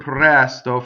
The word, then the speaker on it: presto: C is another strong monosyllable. So you would say si pprɛsto, si pprɛsto. Okay, now a couple things in the word pprɛsto. First of all, you have a rolled R.